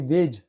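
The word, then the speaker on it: wedge: Rule number 4 है, जब किसी शब्द में डी के बाद जी होता है तब डी साइलेंट होता है। देखिए वेज, डी के बाद जी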